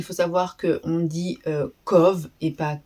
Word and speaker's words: Cobh: Alors, déjà, il faut savoir que on dit co et pas cob. Ça s'écrit cob mais on dit pas on dit pas cob, on dit co donc voilà.